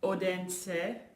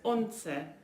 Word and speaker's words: Odense: So, yeah, we are in what looks like Odense, but it's Once. We've learned how it's pronounced.